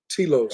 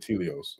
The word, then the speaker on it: Telos: Telos Am I pronouncing it wrong? I might have been pronouncing it wrong. Yeah, Telos subterranean city beneath Mount Shasta. Telos. Okay, there we go. Mount Telios. Yeah, Telos. Yeah. Telos. I said Telios.